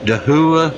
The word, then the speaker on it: Dahua: a little demonstration of Dahua I think it's how it's pronounced da h ua it's a security webcam